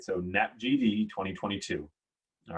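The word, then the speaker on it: NAPGD: the acronym we can tell you how to pronounce it right so nap gd 2022 all right that's the future geopotential datum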